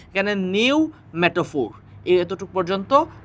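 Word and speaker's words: pneumatophore: শ্বাসমূলকে ইংরেজিতে বলা হয় নিউমেটাফোর। এখানে পি এর উচ্চারণ হয় না, যদিও প্রথমে একটা পি আছে, কিন্তু পি এর উচ্চারণ হয় না, এখানে নিউমেটাফোর এতটুকু পর্যন্ত উচ্চারণ হয়।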